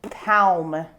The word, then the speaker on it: palm: it and i say palm as well same so you don't you don't pronounce the l palm yeah come to think